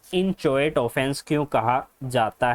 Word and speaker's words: inchoate: सबसे पहले हमें पता होना चाहिए कि क्रिमिनल कॉन्स्पिरेसी को इंचोएट ऑफेंस क्यों कहा जाता है।